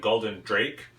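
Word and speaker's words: Gulden Draak: Guldan, I think that's how I pronounce it, Guldan Draak, because it has a double A, 9,000 quadruple.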